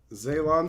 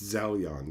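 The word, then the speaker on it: Zelyon: type it in right maybe I'm saying it wrong oh it's zelion that's why I'm getting the uh I'm getting the the letters reversed here on it okay zelion sword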